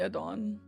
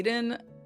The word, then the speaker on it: Adon: Yeah, it's definitely Adon. Are you sure? When you say Aiden, I don't correct you because that would be rude, but it's definitely Adon.